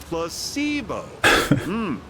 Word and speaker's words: placebo: today repeat after me Placebo the stress is on the middle syllable placeo very good you're